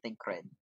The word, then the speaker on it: Tancred: And that's how you pronounce his name, Tancred.